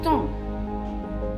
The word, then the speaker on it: temps: The word for time in French is le temps. The P is silent and the EM is pronounced like on.